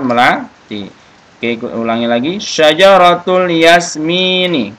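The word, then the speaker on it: ياسمين: Syajaratul yasmini. Jadi bacanya jangan yas, enggak boleh ya. Jadi langsung syajaratul yasmini atau syajaratul yasmin.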